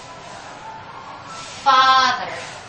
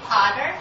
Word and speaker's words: father: Father. Father. Yes, you don't say potter, when you say father.